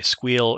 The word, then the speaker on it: SQL: squeal by the way squeal is the way i pronounce sql i will see that